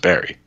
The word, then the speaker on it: Barre: And the passenger is starting to get annoyed because he knows damn well it's pronounced Barry.